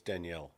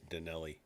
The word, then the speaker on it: Daniele: And I think it's Danielle, not Danelli.